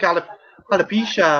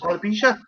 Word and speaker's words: alopecia: to his own hair would it be like alopecia or some halip help me out here deacon how do i pronounce this alopecia alopecia yeah is it because of the general